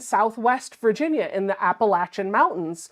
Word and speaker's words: Appalachia: Appalachian Mountains M and when I first moved down there I was calling them the Appalachian Mountains they do not like that no it's Appalachia it is Appalachia and I had a hard time for a very long time remembering to say Appalachia and W I tricked